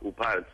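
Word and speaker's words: OOPArt: comentabas TD al principio que se llaman uparts no que son se escribe o o p a r t out of place artifacts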